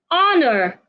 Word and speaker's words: honor: Honor. The H is silent. Simply say honor, not honor.